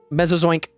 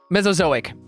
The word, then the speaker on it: Mesozoic: Mesozoink. Mesozoink? Mesozoink? I can't even pronounce that.